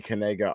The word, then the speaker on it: Knigga: So, I'm sure most people have heard of there is a a football player, his name is Noah Kanega, but Kanega is spelled K Ni G- A.